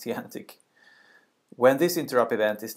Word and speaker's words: EANTC: advanced networking test center it's pronounced T antic when this interrupts event